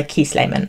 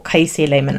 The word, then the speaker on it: Kiese Laymon: Another book that I read for Blackathon this year is Heavy by Kiese Laymon, or Kiese Laymon. I've heard it pronounced both ways.